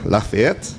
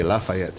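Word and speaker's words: Lafayette: is in French um it's actually lafette lafette but in Jamaica they say lafaette you know oh you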